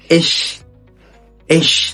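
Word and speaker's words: ich: كل حرف من دول بعد كده معانا سي اتش بس لو جت بعد اي ثلاث حروف غير الثلاثه اللي احنا قلنا عليهم دول ثم اشبيل اش يعني انا اوض دش دش يعني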